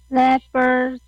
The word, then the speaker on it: labor: Number four, labor market. Okay. Again, that is labor. Labor. Again, labor. Labor. Okay. Labor. Labor. Okay. So do not forget that it is a long A sound.